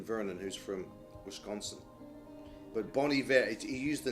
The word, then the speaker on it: Bon Iver: music this is uh depending on your pronunciation bon iver or bon iver which is the pseudonym for a gentleman named justin vernon who's from wisconsin but bonnie vera he used the name